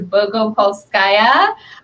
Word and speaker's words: Bogopolskaya: It is Bogopolskaya. It's a lot of letters, but it is pronounced exactly how it is spelled, in case anyone was wondering.